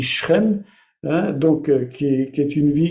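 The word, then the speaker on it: שכם: on dit six chaînes mais en hébreu on dit shrem donc qui est une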